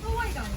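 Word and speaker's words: Hawaiʻi: The original pronunciation of Hawaii is actually "havai," not "hawaii."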